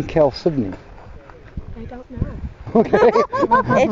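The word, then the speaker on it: chalcedony: oops okay shiny very neat why the name Kel Sydney I don't know okay it just I don't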